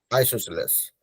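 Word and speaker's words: isosceles: called isos triangle isos that is how you pronounce it right GES yeah isoceles so basically if you have any triangle with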